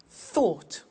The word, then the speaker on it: thought: Read, read, say, said, send, sent, speak, spoke, tell, told, think, thought. Watch that again. o u g ht ought write wrote okay so